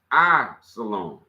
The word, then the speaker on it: Islam: Hood which is Jewish the other is Islam pronounced I salom see the word the first letter is I